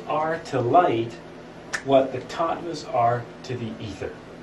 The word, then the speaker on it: Tattwas: to light what the tvas are to The Ether how do you say top top it's a w but it's pronounced like a V kind of like a German how polish too yeah